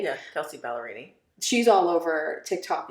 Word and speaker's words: Kelsey Ballerini: right I think I I'm gonna say her name wrong I think it's Kelsey ballerini am I saying it right yeah Kelsey ballerini she's all over Tick Tock right now with